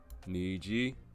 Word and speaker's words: nii: at the AA dictionary nii that's the correct way to pronounce this nii nii now I'm